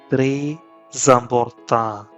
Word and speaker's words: très important: So in slow motion, it is très important, très important. Because that Z sound or Z sound is on important, zamborta, très important.